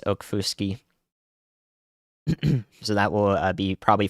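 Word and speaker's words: Okfuskee: extended into Northwestern uh okfuski County aquafoski County one of those two pronunciations is right I've heard it before I think it's Oak Fuski so that will be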